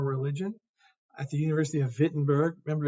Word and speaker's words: Wittenberg: at the University of Wittenberg remember in German if it's a w you pronounce it like a V okay um he was